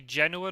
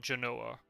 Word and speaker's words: Genoa: Oh, it is actually Genoa, not Genoa. Interesting. I'm trying to think then. Oh, is it really Geordie? Okay, Sophia. Okay, Sophia. Right. That's interesting then. So the English and Spanish pronounce it differently. The stress is in a different place.